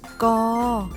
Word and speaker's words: ก: ไก่ ใช่ ไหม คะ ออก เสียง ว่า อะไร คะ กอ เก่ง มาก ค่ะ ตัว